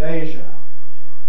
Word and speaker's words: Asia: name of the continent i call it asia but i was aware that a lot of people call it asia so here's a multiple choice question two possible choices you'll notice that i present the options in three different forms first of all in an ipa transcription then with an explanation of the sounds involved the consonant sound is as in pressure or the consonant sound is as in measure and then i present